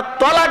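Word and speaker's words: طلاق: স্বামী তার স্ত্রীকে বলে তালাক, বলে না? বাবা বলুন না, শব্দটা তালাক নয়, শব্দটা তালাক নয়, শব্দটা হলো তলাক।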